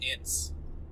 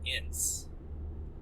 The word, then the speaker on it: Ince: I've always pronounced it Ince. Ince? Like inch, but with a soft s instead of Okay.